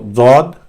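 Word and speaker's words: ضاد: So Dod is the side of the tongue touching with the upper row of the teeth at the point where they all join the gums. That's Dod. Then comes Ta, and Ta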